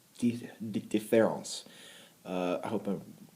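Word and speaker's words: différance: the the top difference it just looks like difference but in French it's pronounced deference uh I hope I'm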